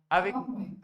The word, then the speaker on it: avec: मैं', तो क्या आपको 'एवेसी मोई', ' एवेसी मोई' याद है?' एवेक मोई', 'अवेक मोई', ठीक है।'